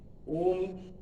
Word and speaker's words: ओम: सर्वप्रथम एक बार तो हम लोग कह ही लें, ओम का उच्चारण हम लोग कर लें। वो ओम जो है वो 3 लेटर से बना हुआ है, अ उ म।